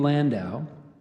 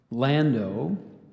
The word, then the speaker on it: landau: properly here okay so I gave you the main main pronunciation of Landau there's also Landau and Lando Landau can I have